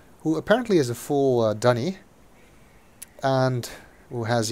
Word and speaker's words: D'ni: apparently is a full dunny and who has yet another way to pronounce dunny he says D for some reason I will continue to say dunny oh still earthquakes here